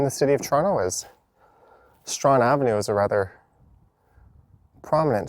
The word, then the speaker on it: Strachan: You can see in the sign, Strahan is spelled Strachan. That's one of the more difficult names you'll have to pronounce in the city of Toronto, as Strahan Avenue is a rather prominent street that runs